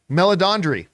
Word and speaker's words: Meledandri: had Chris, I'm going to mispronounce his nice last name, Meledandri? Meledandri.